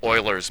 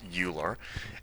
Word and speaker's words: Euler: All right, let's look at Oilers's method in this one. And that is pronounced Oiler, not Euler.